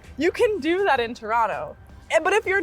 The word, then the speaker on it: Toronto: and then he said, say it like a true Torontonian. It's Toronto. So Toronto. really, it's C-H Toronto. U-R-R, C-H. like ch, Toronto. No T at the end. Toronto. C-H-U-R-R-O-N-O. Toronto. Toronto. Toronto. Toronto. Toronto. So that's how you say it.